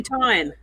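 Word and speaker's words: Utahn: Yeah, it's just like Utah, and then there's just an N at the end. There's not even an extra syllable. There's just an N after the H.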